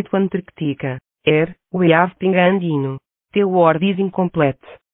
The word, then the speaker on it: pingüino: Here, we have pingüino. The word is incomplete. This word is supposed to be pronounced. Pingüino.